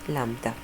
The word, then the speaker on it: lambda: this wavelength a letter similar to an upside down why okay we pronounce it lambda so lambda is technically